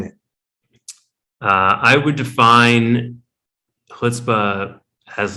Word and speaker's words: chutzpah: think what we're all wondering is what is hutzpah it is a great question and you are pronouncing it correctly i'll start with that but